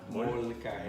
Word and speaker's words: molcajete: What is it called? Mortajete? Molcajete. Oh, molca. Molcajete. Molca? Is that how you say it?